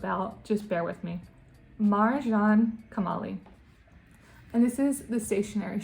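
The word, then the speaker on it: Marjan Kamali: Marjane Kamali. Guys, I used to have a speech impediment when I was a child, so sometimes that might slip out. Just bear with me. Marjane Kamali.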